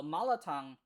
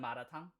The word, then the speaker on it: malatang: So, malatang uh I guess in English. Oh, no. English is just called malatang. Uh in Korean we just call it matang because we don't have an L pronunciation.